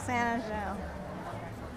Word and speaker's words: San Angel: They're all called San Angel.